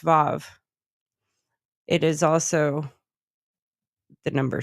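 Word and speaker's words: ו: So I mean, here's a little thing: the letter W mhm, in Hebrew mhm. is pronounced Vav.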